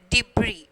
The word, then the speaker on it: debris: Okay, island, and then debris. Okay, so here S is silent, and then L.